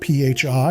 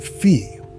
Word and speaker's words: phi: Tononi uses a Greek letter called phi, that's spelled P-H-I and pronounced like phi, or sometimes phi, to measure this integration.